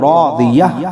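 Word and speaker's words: راضية: ता दो ज़ेर तीन, रादियतिन, फ़हुवा फ़ी ईशतिन रादियह। जब हम यहाँ वक्फ़ करेंगे तो रादियह पढ़ेंगे, ठीक है।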